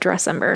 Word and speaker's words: Dressember: But I just say it like December, but Dressember.